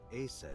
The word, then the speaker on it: Aset: Yeah, And Isis sounded like Aset in ancient Egyptian, which is where your stage name comes from.